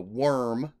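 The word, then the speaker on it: Wyrm: or the good guys they're fighting against the worm spelled with an Y w-y-r-m which is essentially destroying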